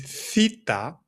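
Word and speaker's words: θήτα: The name is theta. Theta. And it makes the sound like when you say think, like a th sound, like when you say think or thoughts.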